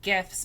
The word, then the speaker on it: GIF: So the guy who invented them used I'm assuming it's called a soft G. Who knows? There's no way to find out. Find out. Um but he said that it's GIF like the peanut butter.